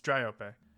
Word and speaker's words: Dryope: It's Dryope.